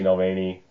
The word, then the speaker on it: Navalny: It seems like he's been very outspoken for a lot of his career, but especially lately in the wakes of Alexei Navalny, that's how you pronounce it, being imprisoned by Vladimir Putin.